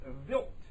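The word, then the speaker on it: Wild: Swedish word it's spelled while wilb but it's pronounced vilt Swedish word uh pronounced built 2 after the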